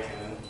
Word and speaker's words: Camus: His name is Albert Camus, and he's French. That's why you pronounce it like that, because the French are lame, and yeah, not that cool.